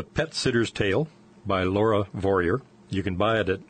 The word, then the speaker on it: Vorreyer: spelled V o r r ey e r pronounced warrior Laura it's been fascinating enjoyed having you on